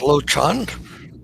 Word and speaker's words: Lochan: It's pronounced Lochan.